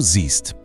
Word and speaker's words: siehst: Es gibt auch einen Vokalwechsel, aber diesmal wird das E zu einem I. Und, ganz wichtig für die Aussprache, dieses I klingt wie ein langes I. Probieren wir es wieder zusammen aus. Ich sehe. Und jetzt die Veränderung: Du siehst. Er sieht. Achtet auf dieses lange I.